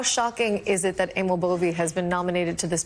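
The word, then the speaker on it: Emil Bove: Well, first of all, his name is pronounced Amal Boie.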